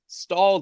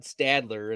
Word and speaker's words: Stalder: times and be like, no, it's Stalder. You're going to have to spell it. It's not Stadler.